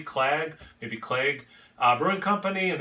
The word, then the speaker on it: Clag: It's from, I'm assuming it's pronounced Clag, like lag with a C, Clag, maybe Clag.